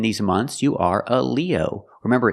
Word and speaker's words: Leo: months you are a Leo remember it's countable we say a a Leo use the long e like green beans Leo Leo you're not a